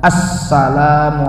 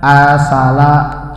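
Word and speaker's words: السلام: Assalamu alayka. Jangan asala. Saya ulang-ulang biar jeli. Bukan asala tapi assalamu alayka ayyuhan.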